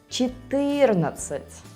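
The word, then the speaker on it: четырнадцать: Và nhân tiện, đây là cách phát âm của 11 âm và tiếng Belarus, nhưng trong tiếng Nga là , .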